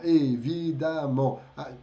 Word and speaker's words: évidemment: Porque aqui está escrito com E, mas se E, dois M's nos advérbios, ele se transforma em som de A. Tá? Abondamment, évidemment, e assim por diante, tá?